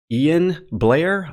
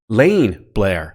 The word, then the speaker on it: Lane Blair: I want to say Ian Blair. Hopefully I'm not pronouncing that wrong. Usually Ian is, Lane Blair. I apologize. That's not an I, that's an L.